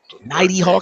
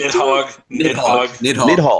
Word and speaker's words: Nidhogg: Nighty Hog. How do you pronounce Nighty Hog? Nidhogg.